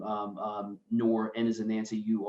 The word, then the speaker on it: Nur: to say you know my name is spelled n-u-r um it's pronounced noor i like to say nor my parents who i